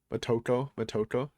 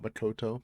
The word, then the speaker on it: Motoko: Motoko, not Makoto, Motoko.